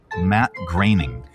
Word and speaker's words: Matt Groening: How do you pronounce this? Matt Groening.